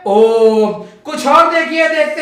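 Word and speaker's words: ॐ: अगर इस ओम को कोई ओम बोलता है तो वो गलत उच्चारण है, उसका सही उच्चारण क्या है? ओम।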